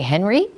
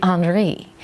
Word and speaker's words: Henri: me, did you say Henry? Well, then he might say, well, that's how you say it in English, but it's really Henri.